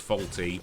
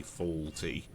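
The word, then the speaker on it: Fawlty: is called uh it it's pronounced faulty but uh written f a w l uh t y faulty because that's his his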